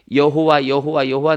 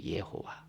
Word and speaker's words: 여호와: 자, 우리가 구약 성경에 여호와 나오잖아요. 원 발음은 예호와예요. 예호와. 그거를 이제 중국 성경으로 번역하고 그 중국어로 번역된 걸 우리나라로 번역하다 보니까 여호와가 된 거예요. 원래 발음은 예호와예요.